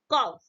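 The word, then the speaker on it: cough: किया जाता, अर्थात यू लेटर जो तो आपका साइलेंट है। जैसे एग्जांपल देते हैं, कॉफ, क्या पढ़ेंगे इसको, कॉफ पढ़ेंगे, जी सी ओ यू जी एस।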